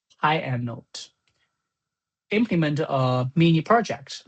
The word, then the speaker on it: pyannote: Intermediate level is to achieve a fine to fine-tuning and handle how to pronounce. Panote. Py anote. Py anote. Py anote.